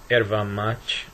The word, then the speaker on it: erva mate: of erva mate, and I call it erva mate even though they sell it as yerba mate. It's the same plant, just pronounced differently, and usually called erva mate in Brazil, where they speak primarily Portuguese.